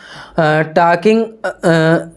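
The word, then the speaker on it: talking: of metre पर second टॉकिंग टॉकिंग टॉकिंग टॉकिंग बात करना हो जाएगा अगला साइलेंट होता है टेस्टिंग जी इक्वल टू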